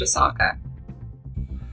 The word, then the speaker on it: Oscar: It's pronounced Osaka.